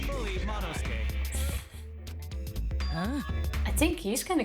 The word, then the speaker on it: Monosuke: Monosuke just unhinged his jaw and swallowed his entire leg! It's not Monosuke, Tifa, it's Monosuke. The U is silent.